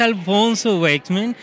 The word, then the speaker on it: Alfonso Waithsman: la primera fila de los mejores eventos es Alfonso Wexman. ¿Sí lo pronuncié bien?